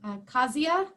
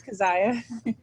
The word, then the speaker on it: Keziah: Kazia? It's no worries. It's Keziah.